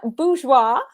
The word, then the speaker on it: Bourgeois: Bourgeois.